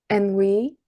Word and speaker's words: ennui: Well, there's ennui. Is that how you say it? And we Ennui. Ennui. Yes, it's French.